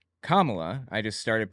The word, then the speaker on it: Kamala: and then became VP I thought her name was Kamala also I didn't realize it's pronounced differently when I figured out it was Kamala I just started pronouncing